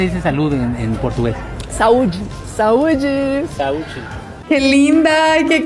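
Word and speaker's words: saúde: salud Cómo se dice salud en en portugués sauji sauji sauji qué linda qué carismática me encanta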